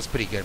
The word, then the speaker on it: Spreaker: piattaforma è sempre Spreaker si scrive Spreaker con la k si pronuncia Spreaker ma si deve scrivere